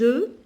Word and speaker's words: œufs: Donne les œufs, je ne prononce pas le F et je ne prononce pas la lettre S, les œufs à sa maman pour préparer un gâteau au chocolat.